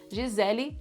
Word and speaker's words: Gisele: Gisele, very Brazilian. G is sounding like J because you have a vowel afterwards. The E in the end of Gisele sounds like E, not E. It's not Gisele.